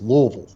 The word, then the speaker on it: Louisville: Well, listen, you got to say it like you got a mouthful of yogurt. It's Louisville.